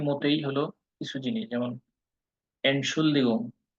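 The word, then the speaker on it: Entschuldigung: এটা কম ইউজ হয়, তবে এনশুলদিগুংটা হলো ইন জেনারেল বেশি ইউজ করে মানুষ। এনশুলদিগুং উচ্চারণ হলো এন্ড শুলদিগুং, 3টা সিলেবালে উচ্চারণ হবে শব্দটা।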